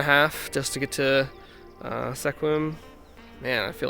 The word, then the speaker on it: Sequim: Hey guys, so I'm out here in Sequim. I'm not sure if that's how you say it. Let me know in the comments below. It's pronounced Sequim. I asked. It's Sequim.